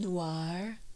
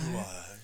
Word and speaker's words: noir: I really like um film Noir like you have to say it like that film Noir Noir it's true cuzz like